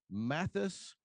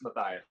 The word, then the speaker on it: Matthias: We have Mathis. Did I get the wrong? I think I said your first name wrong. Yeah, you did. It's okay. It's Matthias. Matthias.